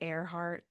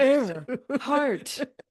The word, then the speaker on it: Earhart: I don't think I had realized it because it's spelled different. Right. But then I was like, air. Oh my gosh. Earhart. Earhart.